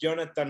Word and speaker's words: Yonathan: Spanish, mi nombre es Yonathan. No Jonathan, pero Jonathan. So if you got that difference, Yonathan in Spanish phonetically is spelled with the Y. Jonathan is spelled with the J.